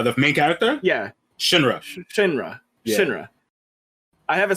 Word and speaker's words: Shinra: your force yeah yo i'm going to probably pronounce this guy's name incorrectly but is it shirani uh the main character yeah shinrosh shinra shinra i have a spell and i try